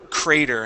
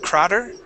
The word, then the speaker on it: crater: okay very good and we have the word crater instead of crer cray crater crater good nice job all